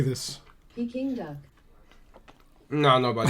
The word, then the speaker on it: Peking: Saying Peking. It's not actually. Peking. I don't know why. I keep saying that. It's actually Peking. You do want to stress on that king syllable.